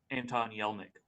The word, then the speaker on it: Anton Yelchin: and you say his name better, I can't pronounce his name. Anton Yelchin.